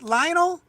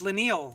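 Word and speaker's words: Leinil: ] out of here lionel is usually how you pronounce that name right lionel i thought so too how does he spell it l-e-i-n-i-l i always say lionel but then noel always corrects me with lineal i think or something like that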